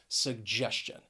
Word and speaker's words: suggestion: g that g e those sounds blend together and you get that voice that j just sound suggestion and i have a